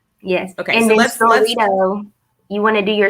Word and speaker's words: Storrito: And then Storito, you can do 10 free story posts a month. Storito, like Dorito?